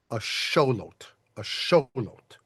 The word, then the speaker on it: axolotl: It's just that the official fancy pants way of saying this, if you want to get it most original, is something like a show. A showot a lot.